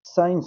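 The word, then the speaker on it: science: एस सी का मतलब है कि अगर एस के बाद अगर सी आता है तो एस के बाद अगर सी आता है तो सी साइलेंट हो जाएगा। अब यहां पर एस सीजर नहीं होगा। सीजर क्या पढ़ेंगे इसको? सीजर साइंस होगा। सी साइलेंट साइंस यहां पे क्या होगा?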